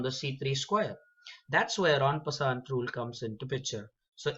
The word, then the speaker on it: en passant: It's the en passant. It's incorrect to say en passant. It has a French origin and the spelling is ENPASSANT.